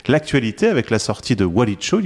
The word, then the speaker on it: Walicho: Et merci d'être avec nous à l'occasion de la sortie de ta nouvelle bande dessinée qui s'appelle Walicho. Oui. Je le prononce bien? Oui.